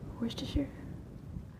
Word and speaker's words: Worcestershire: nice uh worcestershire girl worcestershire that's how we pronounce it here or sure per purine